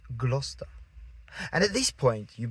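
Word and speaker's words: Gloucester: And then you see Glouester and you're thinking glowester. No, it's just Glouester.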